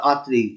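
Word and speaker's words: আত্রাই: দ্য অ্যাস্ট্রি, তাহলে আর দ্য আত্রেই, দ্য আত্রেই উচ্চারণটা হবে আত্রেই, বুঝতে পারছো?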